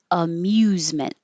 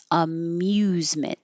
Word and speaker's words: amusement: Amusement. Amusement. So, after you make the M, the M, your tongue should be in the high position for a Y. U.